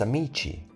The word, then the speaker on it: amici: Instead of inserting an H, they simply change to CI and GI, chi and G. Here are some to remember. Amico becomes amici without the H.